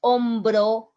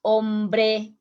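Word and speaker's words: hombro: bonds is the shoulder you have to pronounce very clear is ombro is not ombre because ombre means man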